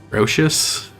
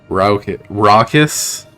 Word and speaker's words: raucous: Rocious? Mm-hmm. Raucous? Yeah, I wouldn't have ever guessed that from the way it's spelled.